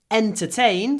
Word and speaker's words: entertain: half an hour pronunciation entertain starts with a vowel e so when we say to before entertain you can hear a w sound between the words to entertain to entertain